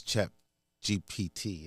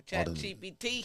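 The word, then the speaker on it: ChatGPT: Plus, check GPT. Is that how you say it right? Man, that's the chat GPT.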